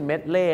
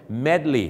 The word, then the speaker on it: medley: มา ร้อง รวม กัน ไม่ ใช่ เมล่ นะ ครับ ต้อง เป็น Medley นั่น เอง ครับ บอ ไม่ ใช่